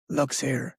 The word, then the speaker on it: Luxeire: I'm to your host and today I'm super excited to be joined by Margot Adams, co-founder of Luxair.